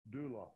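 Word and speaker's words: δοῦλος: You may even want to find out how it is pronounced. Click on this. Strong's G1401, doulos.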